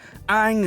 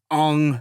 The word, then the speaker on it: Aang: This will be the trio of the entire story, the unbreakable group of heroes, Aang, Sokka, and Katara. Or, in this movie, Ong, Sokka, and Jotaro.